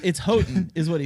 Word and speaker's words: Houghton: asked him and he he tells me it's Hodgdon but I know for a fact that's not